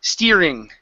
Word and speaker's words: steering: very close here but it's a long ye sound in the middle so it's eesti steer steering okay cheering good job so